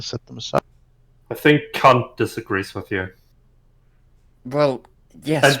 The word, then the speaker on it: Kant: I think Kant disagrees with you. Well, yes, And yes, that's how you pronounce it.